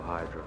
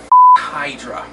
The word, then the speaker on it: Hydra: these two words pale hydro buggy buddy i know you were brainwashed at the time but you're saying it wrong it's pronounced hydra anyway oh uh let